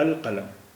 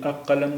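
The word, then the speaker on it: القلم: roof कमरी है तो यहां अल का उच्चारण होगा अल बोला जाएगा अल कलम ये अ कलम नहीं बो बोलेंगे इसे बोलेंगे कलम क्योंकि यहां लाम का तल लाम का उच्चारण हो रहा है अलकलम इसी तरह किताब किताब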